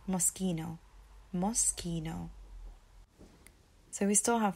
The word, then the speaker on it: Moschino: is Moschino Moschino Moschino MOS Ki no Moschino Moschino now growing up I used to hear people say mashina like Moschino there's lots of different ways that I used to hear this brand name being said but it's actually Moschino Moschino so we still